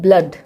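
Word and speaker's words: blood: यहाँ पे भी दो एक्सेप्शंस हैं, एक है ब्लड, बी एल ओ डी। यहाँ पे भी देखिए ओ के बाद डी है लेकिन यहाँ पे ओ को ऊ नहीं पढ़ा जा रहा है, अ पढ़ा जा रहा है। ठीक है, ब्लड।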